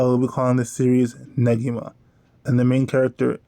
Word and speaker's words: Negi: and the main character Negi, even though it sounds so weird to me. I'm sure I'll still slip up every now and then, because I've been using the soft G pronunciation for 15 years now, but I promise to make an effort.